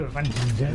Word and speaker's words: Avanchnzel: So let's go to Avanchnzel. Which is the proper way to pronounce it.